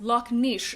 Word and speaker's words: Loch Ness: in Scottish Gaelic uh Loch Ness is pronounced Loch Nish so Nishi as both